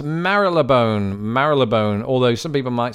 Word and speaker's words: Marylebone: How in the hell do you pronounce Marylebone? Marylebone, although some people might say Marylebone.